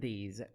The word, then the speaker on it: these: common errors, those and these. Correcting this mistake will make you sound clearer. We have a tip here. The S in these words pronounced as Z sound. Those, these.